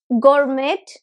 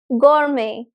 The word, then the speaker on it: gourmet: this word it's not Gourmet no the T at the end is silent this is pronounced as Gourmet gourme gourme right so